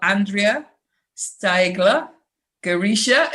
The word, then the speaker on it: Andrea Steigler Girisha: And today I've got Andrea Steigler Girisha. Is that pronounced right?